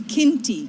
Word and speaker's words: Qinti: Give me the pronunciation one more time. So I do not want to get that wrong. No, it's Qinti.